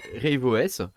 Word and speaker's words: RaveOS: sortes choses et voilà j'ai décidé de tester rideau s ouvre à vos images il faut le prononcé à l'anglais voilà j'ai décidé de le